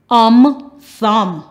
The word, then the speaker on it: thumb: Words that end with MN, the last letter is silent, the N.